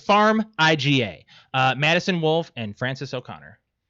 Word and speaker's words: Farmiga: I tried to pronounce it. It's Farmiga.